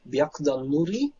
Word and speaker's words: Byakudan-nuri: I think I think the U, if it follows a K, it's sort of silent, so it becomes something like Byakudan-Nuri with Yakou Maki-e.